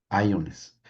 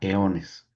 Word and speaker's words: eones: el tiempo de ions, iones, pero que así se escribe, pero se pronuncia eones, son los eones, que está ya dentro del el transcurrir de lo eterno.